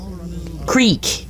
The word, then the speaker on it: Creek: The Cree, you say? Creek. Oh, Creek. Is it pronounced Cree?